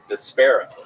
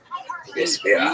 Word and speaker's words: Despera: Despera. Vesper with an A at the end.